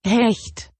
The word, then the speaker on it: Hecht: The word is pronounced Hecht.